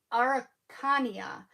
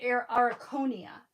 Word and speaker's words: Araucania: sound it out, but in my brain when I see it, it's Araucania. But I always say Araconia, and I know that that can't be right just by the way it's spelled.